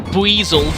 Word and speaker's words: Buizel: It is a Boizel. Yeah, I know that it's supposed to be pronounced Buizel, but that relies on the American pronunciation of boy, so I always call them Boizel.